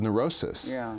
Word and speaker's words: neurosis: Well, for medical disorders, but for what's called neurosis, which is a terrible phrase, really, a terrible word, that, it rhymes with psychosis.